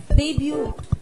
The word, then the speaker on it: debut: Sa vocabulary, anong letter ang hindi binibigkas sa English word na debut or debut? U. Debut.